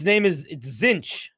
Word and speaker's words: Tzeentch: It's pronounced Tzeetiche. That will make a lot of people really frustrated if you put that in a YouTube video. It's Tzeentch. Tzeentch.